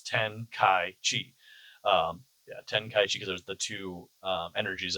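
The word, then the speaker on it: Tenkaichi: ten kai chi because it's ten kaichi. Um yeah, ten kai chi because there's the two energies in there.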